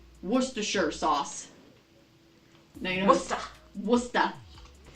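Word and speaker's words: Worcestershire: how you pronounce it worister it's pronounced wora remember you do not pronounce you do not pronounce the rs it's wa it's Worershure sauce.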